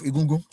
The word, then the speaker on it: Egungun: Egun is a Egun? Egun is a shortened form of Egungun. The full pronunciation is Egungun.